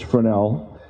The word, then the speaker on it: Fresnel: as the fresnel zone it's a funny pronunciation of that name but it's fresnel uh it's a french name and it comes from